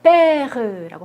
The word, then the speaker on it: père: 보시면 1번에 père라고 발음하죠.